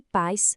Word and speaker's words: paz: Por que país com acento e paz sem acento? Aqui está o poder dos conceitos que a gente viu. Em paz, temos um ditongo. Os sons ficam juntos numa sílaba só.